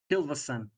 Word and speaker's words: Hilvason: Hilvason, because he's son of Hilva.